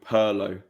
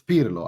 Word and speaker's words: Pirlo: Pirlo being called Perlo was another one. Perlo. But I mean I can't. I get that because that's just English, isn't it? How you pronounce like certain things are difficult because of the way that you. But it's not wrong. It's just it sounds. It's it's Pirlo.